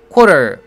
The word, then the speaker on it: quarter: quarter 발음할 때는 QU 발음을 꼭 해줘야 됩니다. 그래서 core 이렇게 해야 되죠. 많은 학생들이 QU 발음을 core 이렇게 안 하고 줄여가지고 co 이런 식으로 합니다. core 하고 co는 완전히 다른 발음이죠. 귀찮더라도 quarter 하고 QU 발음을 살려주세요.